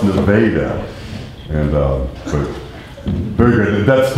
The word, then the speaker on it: Nevada: And so we're lucky that we don't pronounce it Nevada, because there's a city in Missouri that's spelled Nevada, but pronounced Nevada.